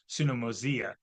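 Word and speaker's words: συνωμοσία: Oh, it should be mosia, because the I at the end is like the I in intrigue. So that's the pronunciation. It would be sunomosia, is the pronunciation of Koine Greek, if you care.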